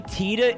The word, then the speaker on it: Tita: seeing over and over that because Titanium is spelled T I T A that the name TA would be pronounced the same way when it simply would not be.